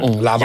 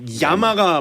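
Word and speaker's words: llama: 라마. 야마. 야마. 야마가 맞는 발음이에요. 야마. L이 들어가요. 네, 더블 L 야마.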